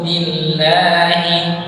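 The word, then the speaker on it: بِاللّٰهِ: Jadi ketika huruf yang dia kasroh maka ya iya aja, jangan berubah jadi A'udzu billah. Jangan billah. Ada yang sebagian yang bacanya seperti A'udzu billah misalnya gitu ya. Jadi dia billahi. harusnya billahi.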